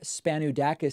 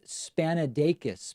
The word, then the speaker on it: Spanudakis: Spanudakis says, it's pronounced Spanadakis, by the way.